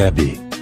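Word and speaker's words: Abbey: L'histoire commence avec la déportation des Abéis, prononcée Abbé.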